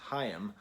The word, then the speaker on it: Haim: did a video on Haim which it turns out they're pronounced hiam and I got a